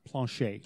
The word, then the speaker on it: Planchet: It's pronounced Planchet.